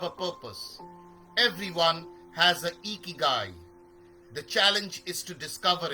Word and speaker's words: Ikigai: Pronounced as Ikigai is a Japanese concept meaning reason for being.